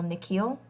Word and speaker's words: Nikhil: The way the principal pronounces his new name is different from the way his parents say it, the second part of it longer, sounding like heel.